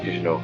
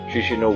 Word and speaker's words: Chișinău: First up, let's land in the capital, Chișinău. It's pronounced Kish, I know, sort of.